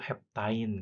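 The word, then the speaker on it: heptyne: Nah, kalau dalam bahasa Inggris ain ya, ine ain dibacanya itu alkain eh satu heptain gitu. Cuma kalau dalam bahasa Indonesia heptuna gitu.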